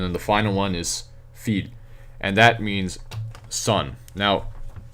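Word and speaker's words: fils: the end and then the final one is feed and that means son now remember this means field spelled like that means both girl and daughter this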